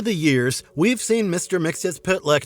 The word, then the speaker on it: Mxyzptlk: by Gilbert Mack while this version followed the official DC Comics pronunciation the second time we saw him in the Super Friends franchise his name was pronounced as Mixel Plick instead voiced by Frank